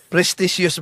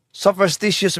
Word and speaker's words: superstitious: Prestitious belief. Oh ang ang layo ' po ba? Prestitious belief versus superstitious belief. Pamanhiin maling pagbigkas, maling pagbayan. Ang tamang termino sa English sopstitious belief. Hindi po prestious belief.